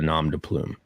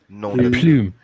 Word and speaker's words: nom de plume: And by the way, you pronounce plume. Nom de plume. Nom de plume. Yeah. Nom de plume. There you go. You got it very good. You even pronounced it like a real French guy.